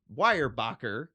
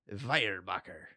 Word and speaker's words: Weyerbacher: I'm gonna give you the anglicized and the possible German pronunciation. Sounds good. We're gonna go Weyerbacher or Weyerbacher.